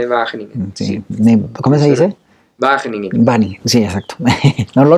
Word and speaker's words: Wageningen: Wageningen.